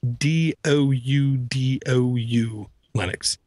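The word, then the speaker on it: DoudouLinux: got kids okay um how to pronounce this sorry it's D do Lennox it really is it really is and it's D doou lenux which of course anytime you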